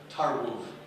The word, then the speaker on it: Tarłów: My ancestral roots are in a place in Poland called Tarlow, T-A-R-L-O-W, or pronounced a little bit better, Tarłów. Sound a bit better? Tarłów, but it's spelled T-A-R-L-O-W.